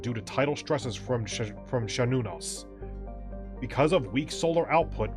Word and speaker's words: Cernunnos: I'm gonna go with second syllable stress there. Cernunnos.